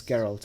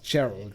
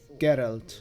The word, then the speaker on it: Geralt: Polish, you should know how to pronounce it the right way, because it's not Gerald, right?